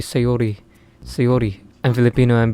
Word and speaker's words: Sayori: So is Sayori like Sayori and Yuri is Yuri? Like, is that okay if I do that? Because English is not my first language, right? And my accent isn't really like that. So typically I wouldn't say Sayori. It would be Sayori.